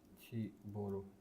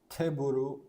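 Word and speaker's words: テーブル: English word, chiburu. Yes, I know the desk, tsukue, but chiburu, teburu, it's teburu.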